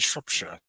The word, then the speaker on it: Shropshire: And that is the proper way to say those, is Shrewsbury and Shropshire.